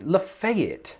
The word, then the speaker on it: Lafayette: what did he say lafayette the there's no real major emphasis on that last syllable lafayette lafayette lafayette lafayette